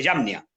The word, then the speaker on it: Jamnia: que se llama el Concilio de Yamnia. Se escribe Jamnia.